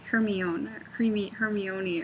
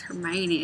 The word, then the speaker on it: Hermione: He also says Hermione or something, which is how I read it when I first read the books before the movies were out, and I didn't know it was Hermione.